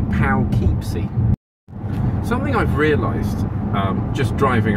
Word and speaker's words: Poughkeepsie: It's spelled P-O-U-G-H. So that, along with plow, would be pow. And then it's K-E-E. So I think it should be Poughkeepsie.